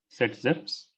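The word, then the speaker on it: Zaitsev: t s e v s but it is pronounced as set zips okay now now this rule is the same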